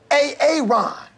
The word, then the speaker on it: Aaron: I'm just asking, you know, I said it like four times, so why didn't you say it the first time I said A-A-Ron? Because it's pronounced Aaron?